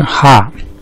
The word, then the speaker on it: 下: 这个下普通话发音是下，客家话发音是哈。